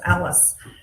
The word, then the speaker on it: ALIS: bank and um Alberta is it Alis is that how you say it Alice it's Alice um and so they